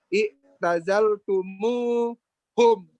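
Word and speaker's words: اعتزلتموهم: Maka bacanya i'tazal tumuhum gitu. Yang susah itu tumhum dia, tumhum jadi tumuhum. Iya, tadinya kan seharusnya i'tazal tumhum kan gitu. Ya. Nah, untuk membaca lebih mudah dibuatlah namanya i'tazal tumuhum.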